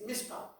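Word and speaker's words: מִשְׁפָּט: Cuando vamos aquí, hermanos, aquí a la justicia de Dios, la justicia de Dios, la palabra hebrea es mishpat. La T no se pronuncia, es mishpat.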